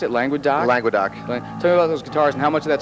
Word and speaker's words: Languedoc: How do you pronounce it? Languedoc? Languedoc.